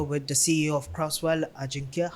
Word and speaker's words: Ajinkya: I thought like the J was like silent. So No. Yeah, some people say it like that, but no, it's Ajinkya. Ajinkya, tell us a little bit about yourself.